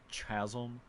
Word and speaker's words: chasm: of defiance in the depraved chasm that it's pronounced chasm like that's the kind of thing that i